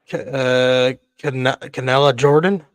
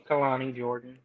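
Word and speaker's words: Kelani Jordan: Canella Jordan. Did I say her name right? Kalani Jordan.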